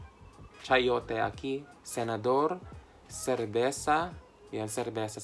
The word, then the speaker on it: cerveza: Ruta, Sabado, Sayote, Chayote aquí, Senador, Cerveza, yan cerveza. Sa kanila ang pag-pronounce ay cerveza, cerveza, ganyan.